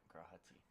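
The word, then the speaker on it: G'raha Tia: Yep, Grahati.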